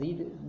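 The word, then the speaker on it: read: तो we have not रेड the Ramayan. रीड लिखा जाता है लेकिन भीतरी पढ़ा जाता है रेड, इसलिए रेड ही लिखेंगे लेकिन स्पेलिंग रीड ही होगा।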